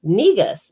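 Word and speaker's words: negus: no so we you know she was like negas and i was like spell it and she was like n-e-g-u-s and it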